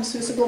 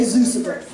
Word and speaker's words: Seussical: in the Hat in Seussical the Musical. Did I say it right that time? I always say Zeusical.